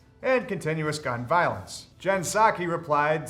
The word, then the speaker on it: Psaki: China said Psaki is a dumb name. Why even keep the P if you're not going to pronounce it?